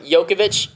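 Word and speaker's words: Jokić: I asked Taylor how much she thought um yokovic that's how you pronounce his name I'm sorry what it's it's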